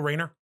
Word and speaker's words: Rayner: Where it's just, we're going to do Kyle Reiner and Hal Jordan. Isn't it Kyle Rayner? Kyle Rayner.